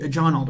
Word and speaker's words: Jonald: It's Jonald, right? Yes, sir. Okay, great. Would hate to say your name wrong.